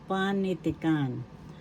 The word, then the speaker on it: panitikan: Panitikan first syllable pa.